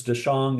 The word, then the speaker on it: Daxiong: But the artist name is Daxiong. And it's for people that like to, um, if you don't know exactly how to pronounce something, it's spelled like Daxiong, but it's Dashong is how you pronounce that.